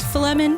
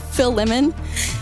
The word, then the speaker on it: Philemon: lehman what is it or filament if that helps you or feel lemon if that helps you how do you pronounce it any of the ways philemon i'm gonna go lemon i hope that helps you get it i'm gonna go with phil lemon p h i l